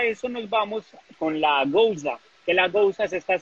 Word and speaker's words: Gose: aprender cómo a distinguir, no se dice ni Gose, ni la Gueuze dice Gouza, sino la Gueuze es Gueuze y la Gose es Gouza.